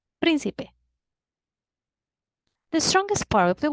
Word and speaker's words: Príncipe: Remember, a word is esdrújula when the strongest part is the antepenultimate syllable. Vamos a practicar. Príncipe. Should I write down a graphic accent? Let's see. We divide the word into syllables. Príncipe. Príncipe.